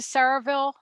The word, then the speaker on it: Sayreville: And I know you went to Saraville War Memorial High School, right?